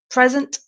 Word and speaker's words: present: gift a present and the stress is on the first part of the word the first syllable present present uh so